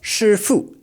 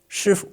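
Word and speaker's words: 师父: Shifu So, this one is shifu. It's not shifu. It's shifu.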